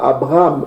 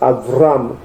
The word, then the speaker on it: Avram: Donc ici la prononciation en hébreu yiddish, le B se prononce V. Eux ils disent pas Abraham, ils disent Avram.